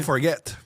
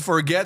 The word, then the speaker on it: Forget: Parce que ça m'aurait énervé comment on prononce mon nom. Tu comprends? On aurait dit Forget, Forget. Tout le monde m'aurait niaisé quand j'aurais joué à Minnesota. You forget how to play. You forget the puck there.